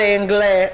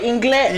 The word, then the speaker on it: anglais: And then he said, "Parle anglais." What? Because my boyfriend tells me I said it wrong. Because I said it the Spanish way, inglés.